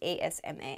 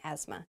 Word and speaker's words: asthma: how i have asthma asthma is spelled very weirdly there's a th in there but we do not say the th it's it sounds like asma asthma asthma is a respiratory